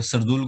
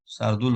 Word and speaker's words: शार्दुल: कर रहा है तो आपने सरदुल को नहीं लिया, शार्दुल होता है ना, प्रोनाउंसिएशन थोड़ा सा गड़बड़ है मेरा, ठीक है।